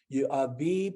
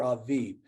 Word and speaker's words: Aviv: Aviv or Aviv. You could spell it A-V-I-V or A-B-I-B. Okay, both are accepted.